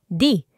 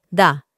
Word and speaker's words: the: Y tiene dos pronunciaciones. La primera se pronunciaría como di. Y es cuando se encuentra antes de un sonido de vocal, como por ejemplo the apple. Pero sonaría también como da, cuando se encuentra antes de un sonido de consonante. Como por ejemplo the cat.